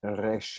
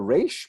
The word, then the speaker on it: resh: Again, we don't pronounce it resh or resh, but somewhere in the middle.